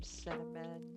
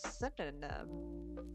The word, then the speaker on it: cinnamon: I actually couldn't pronounce cinnamon for years. Um up until I was about 15, I pronounced it as synonym. synonym. Cinnamon.